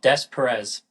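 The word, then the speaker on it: Des Peres: Louis, it's called Des Perez.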